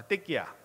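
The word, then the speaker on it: תקיעה: 어때 끼 야 라고 발음 하는데요 아딸 합시다 때 끼야 발음을 조심하셔야 되요 4 때 끼야 아 이때 끼야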